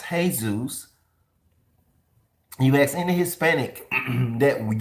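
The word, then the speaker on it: Jesús: Jesus it's not Jesus which is actually pronounced incorrectly if you're basing the off of what you think you're basing it off of is actually pronounced hey-zeus you accidentally hispanic that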